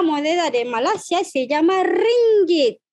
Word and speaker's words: ringgit: Tenemos la moneda de Malasia, se llama ringgit. ¿Cómo se pronuncia esta palabra? It's not ringgit, but ringgit, ¿vale?